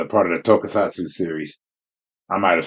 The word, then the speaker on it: Tokusatsu: It's part of the Tokusatsu series.